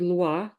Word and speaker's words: lwa: The word loi.